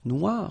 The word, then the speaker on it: noir: So it's quite funny because you will have to add this E at the end of noir for the feminine form, but then you don't pronounce it. Okay, so phonetically it is exactly the same.